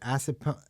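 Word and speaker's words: Assunpink: It's an acid punk. I can never pronounce this.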